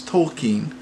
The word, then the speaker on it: Tolkien: check-in here we're watching tokine we're at the 58th minute 36 seconds I know that is he corrects one of his professors so he pronounces his name so it's told keen so and it's just